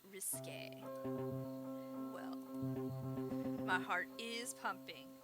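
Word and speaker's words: risqué: your idea of risky risky actually pronounced risque well my heart is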